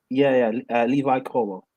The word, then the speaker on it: Colwill: Levi Colwill.